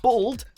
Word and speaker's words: bald: For whatever reason, it's common in America to pronounce this word as though it was spelt with an O and not with an A, which led to some confusion.